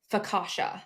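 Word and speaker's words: Pogačar: If you are having a hard time pronouncing his name, you can also say Tadej Fakasha. Like today, the day is today, and the bread I like the most is Fakasha. So Tadej Pogacar has absolutely dominated this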